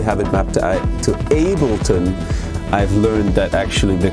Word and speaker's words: Ableton: app I only have it mapped out to Ableton I've learned that actually the correct way to say it in English is Ableton not Ableton I've been pronouncing it the way I've been hearing it